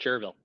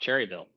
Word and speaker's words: Cherryville: South Carolina Gaston County in chville yes it's pronounced chville not Cherryville so I'm told two and a half inches